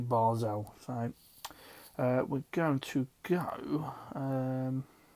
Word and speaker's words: Basel: League I did actually Google how to pronounce their name and it wasn't bad it wasn't bad so it's actually barzell so we're going to